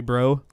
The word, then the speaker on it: Breaux: That's how Joey Bro is spelled.